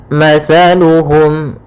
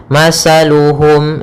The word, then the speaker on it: مثلهم: Pada bacaan mathaluhum, di sini ada huruf tha. As-tha makhrajnya yaitu dari ujung lidah kita, ujung lidah menempel dengan gigi seri atas. Sehingga ketika pelafalan tha, jangan sampai kita melafalkannya dengan masaluhum dengan huruf sin. Hati-hati, sering terjadi ya, yang